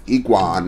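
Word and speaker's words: Egwene: here was matt um uh win whisperer was iguan and that's how you say her name ultimate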